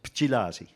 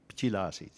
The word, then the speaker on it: Pchilasi: You get a vowel deletion between the P and the J. So the pronunciation is Pchilasi. Pchilasi.